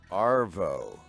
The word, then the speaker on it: arvo: Arvo.